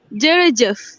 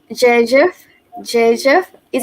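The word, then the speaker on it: jërëjëf: So in Wolof, we say me Jerejef. Jejef, Jejef, is it correct? Jerejef. Yes, that's it.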